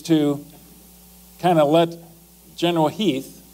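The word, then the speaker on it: Heth: Lee's intent actually is to kind of let General Heath, it's spelled H8, but it's pronounced Heath, to do a little bit of recounting, thinking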